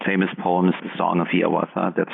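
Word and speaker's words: Hiawatha: of his most famous poems the song of Yawata that's how he wanted it to be pronounced published in 1855 within just a couple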